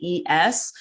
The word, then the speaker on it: Yves: And one of my favorite lunch meat brands is, I think it's called Ives, or pronounced Ives. It's Yves.